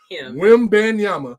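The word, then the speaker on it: Wembanyama: but I gotta say look whim ban Yama whim Bama is how you say his name but uh yeah they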